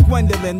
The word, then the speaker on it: Gwendolyn: Said her name was Gwendolyn. The only reason I remember it is cause it rhymes with pendulum.